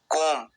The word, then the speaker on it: comb: बाल बनाना, कोम, COMB। यहाँ पर B साइलेंट होता है, सिर्फ बोला जाता है कोम।